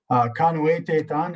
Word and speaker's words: pimohtēyahk: And pimohtēyahk is how you say it.